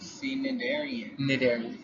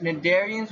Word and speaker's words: Cnidarian: 33.2 Cnidarian. The C is silent. Alright. You know, like you don't say knife, you say knife. Cnidarians with the silent C.